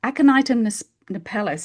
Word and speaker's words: Aconitum napellus: Aconitum napellus is spelled ACONIT for Tom, UM for mother, aconitum, and then the second word is napellus, NAPELLUS.